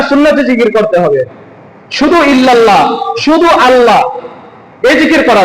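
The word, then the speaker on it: إلا الله: এখানে হচ্ছে ইল্লাল্লাহ লিখতে হলে হামজা লাগে। ইল্লাল্লাহ। হামজা। কিন্তু তারা অন্য একটি শব্দ অন্য একটি অক্ষর উচ্চারণ করে।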